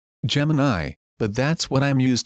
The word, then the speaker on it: Gemini: And I said, I know they're pronounced Copilot. Gemini, but that's what I'm used to and that's how I'm going to call them.